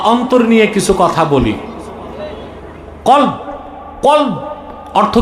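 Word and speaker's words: قلب: কলব কলব অর্থ কি? অন্তর দেহের মূল কি? অন্তর জোরে বলতে হবে। অন্তর দিল কল আপনারা অনেকে ভুল উচ্চারণ করেন। বলে কাল কাল মানে কুত্তা।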